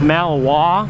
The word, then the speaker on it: Malinois: That's how it's spelled, but it's pronounced Malinois.